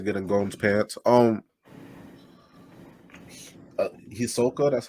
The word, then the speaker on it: Hisoka: gold wants to get in golden's pants um hisoka that's how you say it so so the